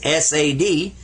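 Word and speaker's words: صاد: The difference between sa and saw. Saw. Sa. This one right here, you smile when you say it. Seen. But this one, sawed. And you see it says S-A-D, sad. A little bit sad. When you say it, say sad.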